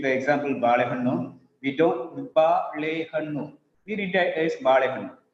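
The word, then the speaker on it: ಬಾಳೆಹಣ್ಣು: We give equal importance to prominence to all the syllables in Kannada.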